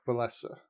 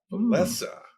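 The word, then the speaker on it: Wałęsa: I think his first name is pronounced Lech, but I thought it was Walesa. The correct answer is Lech Walesa. Walesa.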